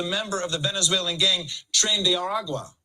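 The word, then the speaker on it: Tren de Aragua: of the Venezuelan gang trend de Aragua or as Trump pronounces it trendy aru shouts to Venezuela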